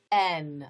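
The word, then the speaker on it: Aisne: n n a i s n e is pronounced n and now i live in n young so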